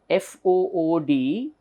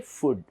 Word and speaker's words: food: You see here, F-O-O-D, generally we all say food. We all say food, but this should be pronounced as food, blue, group.